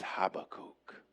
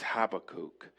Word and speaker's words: Habakkuk: And that is Habakkuk. That is Habakkuk. His name is spelled in the Hebrew He Bet Kuv Vav Kuf.